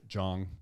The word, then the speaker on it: Jong: Calling him Jang for the longest time. It's just Jong.